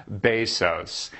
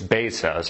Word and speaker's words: Bezos: to talk about Jeff Bezos it's basos I you think it was Bezos but I actually checked it out and saw how the CEO of Amazon pronounced and he's like hi